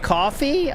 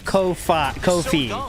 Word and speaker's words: Kofi: Oh, it's pronounced coffee. Oh, okay. I thought I was I've heard people say co Kofi Kofi, but all right, I'll say your way.